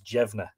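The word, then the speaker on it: Deimne: you've read the monograph he was known as jevna d-e-i-m-n-e and jevna actually means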